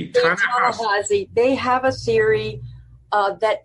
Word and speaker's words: Ta-Nehisi: Now, of course, you know, people on the left, like Ta-Nehisi Coates, whose name I always mispronounce. Ta-Nehisi.